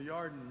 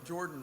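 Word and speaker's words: ירדן: hits below sea level the jews would have pronounced it yard the yard and river not the jordan river but the yard and river and that word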